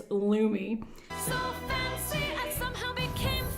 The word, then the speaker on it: Lume: this video because I didn't know how to pronounce it. It's Lumi.